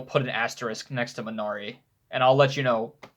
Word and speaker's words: Minari: Minari, I think is how it's pronounced.